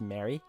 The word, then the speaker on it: Marie: I'm Marie. Marie. After, who was it? The Virgin? You're not familiar with the Virgin Mary? It's spelled Marie, but it's pronounced Mary.